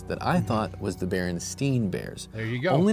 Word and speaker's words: Berenstain: Like many others on the internet, I grew up with a popular children's book series that I thought was the Berenstain Bears.